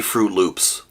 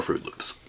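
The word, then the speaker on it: Froot Loops: And also notice, in Fruit Loops, fruit is spelled F-R-O-O-T. Not F-R-U-I-T. Fruit, F-R-O-O-T. To match the O-O in loop. So, oot fray oopslay would be Pig Latin for Fruit Loops.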